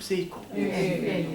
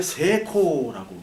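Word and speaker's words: セイコー: 붙고 붙으면 이거를 거의 없애 줍니다 이거를 길게 발음을 하는 스타일이 많아요 그래서 여러분 세이코시계 알죠 세이코 세이코가 성공이란 뜻이에요 성공 세이코 새이 이게 새이 코인데 히라가나로 이렇게 씁니다 세이코 근데 사시는게 세 코라고 그냥 쓰면 돼 세코 세코 경치 치라는 말을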